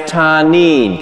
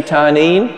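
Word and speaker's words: תנין: It's pronounced tanin. Can you say tanin?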